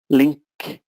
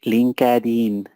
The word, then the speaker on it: LinkedIn: Just for pronunciation, this company is called LinkedIn. LinkedIn. So forget the E and disconnect the words, okay? LinkedIn. LinkedIn. Please do not say LinkedIn.